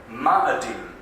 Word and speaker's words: Ma'adim: Ma'adim. Ma'adim. It's almost like madam, isn't it?